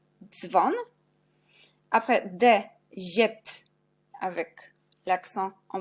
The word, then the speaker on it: dzwon: DZ, on prononce dz, jak dzwon, dzwon.